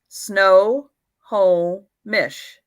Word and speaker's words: Snohomish: photo all right honey how do you pronounce that first tone snohomish snow whole mish okay thank you